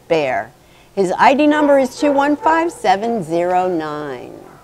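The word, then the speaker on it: Baer: And his name is Bear. He spells it B-A-E-R, but we pronounce it Bear.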